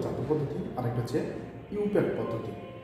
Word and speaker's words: IUPAC: একটা কাজে লাগে না, ইউপ্যাক পদ্ধতিতে আমরা জৈব যৌগের নামকরণ করি। ইউপ্যাকটা কিন্তু আগে থেকে জানো, ইউপ্যাক হচ্ছে যে international union of your and applied chemistry, সেটা কি এটা IUPAC হলেও উচ্চারণ হবে ইউপ্যাক।